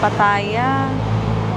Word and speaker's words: Pattaya: Pataya. Pero sabi niya kanina pataya 'di ba? Pataya. Pataya. 'Yun pala yung tamang pronunciation.